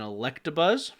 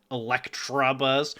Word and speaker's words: Electabuzz: So red version, you have Ekans, Oddish, Mankey, Growlithe, Scyther, and Electabuzz. And then green version... said it wrong. Electabuzz.